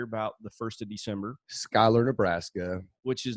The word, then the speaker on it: Schuyler: go every year about the 1st of December Schuyler Nebraska which is not it's spelled different SCH you why Ellie are whoa